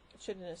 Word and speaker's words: chitinous: the term, told him to announce the first syllable chit rather than more correct kite.